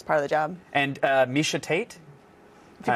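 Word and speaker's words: Miesha Tate: And Misha Tate? If you pronounced it wrong, I would have loved that, but you actually pronounced it right.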